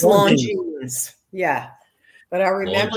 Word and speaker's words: Longines: And the Longinus clock. Am I saying is it pronounced Longinus? I don't even know. I'm not sure. Yeah. Longines. I think it's Longines.